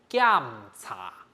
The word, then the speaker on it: 檢: 呢，就係檢查啊，這個檢它是一個下降的聲調哦，一定要特別記得哈。